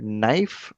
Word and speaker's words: knife: Uh no like K N O W the K is the silent letter knife. K is again silent letter tsunami.